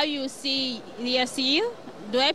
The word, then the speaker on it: Yassir: How you see Yassir, do I pronounce it correct? Yes, Yassir, yes.